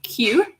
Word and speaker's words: queue: there is a big queue so listen to the pronunciation of this word guys cause it does not sound the way it looks so there is a big nine outside or a big queue and yeah sometimes you